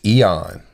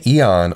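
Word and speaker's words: αἰών: is Strong's number 165 which to me seems like it's pronounced Eon which means a space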